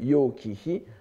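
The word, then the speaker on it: 楊貴妃: En japonais, prononcé en japonais Yo Kihi, c'est-à-dire littéralement, c'est-à-dire l'épouse distinguée, la dame distinguée Yang du nom de sa famille.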